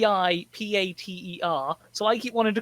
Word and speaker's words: Antipater: normal name and antipater spelt a n t a-n-t-i-p-a-t-e-r so i keep wanting to call him anthony peter but it's pronounced every peter in the vicinity watch out